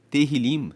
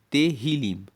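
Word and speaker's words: Tehilim: Terrilim se escreve t e h i l i m terrilim e significa louvores.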